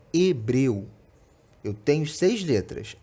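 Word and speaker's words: hebril: 5 fonemas isso porque a primeira letra a letra h ela não tem pronúncia é uma letra muda né quando a gente fala Hebreu que tirar a letra h daí a gente tem o mesmo som ou seja a palavra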